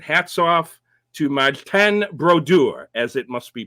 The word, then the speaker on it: Brodeur: number one and hats off to mod 10 brodur as it must be pronounced 691 wins 691 for a goalie all-time